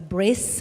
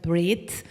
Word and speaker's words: bris: It's called Brit Mila uh which is uh people know it as a bris. Bri is just the Yedish pronunciation of the word brid.